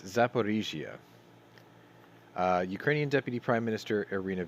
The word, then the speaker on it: Zaporizhzhia: Sorry, I always get this name wrong. It's Zaporizhzhia. There it is. I put an extra I in there for like the last 50-something episodes. It's Zaporizhzhia.